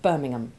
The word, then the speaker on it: Birmingham: the H usually becomes silent, and the A changes its sound from the short A1 of ham And the football team, West Ham. to the short A2 Ivy sound of Birmingham.